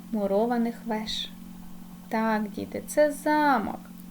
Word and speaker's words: замок: веж так діти це замок а щойно зміниш ти наголос то отримуєш замок замок замок Подивіться будь ласка два